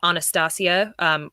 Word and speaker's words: Anastasia: to called the Romanov Empress which was about anastacio which is how you properly pronounce Anastasia in Anastasia Romanov and it was